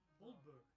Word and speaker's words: Aldeburgh: Oh, says Aldeburgh is pronounced Oldburgh. Oldburgh.